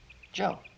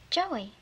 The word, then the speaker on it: Joe: Joe. Joey. No, not Joey. Joe. The E's silent.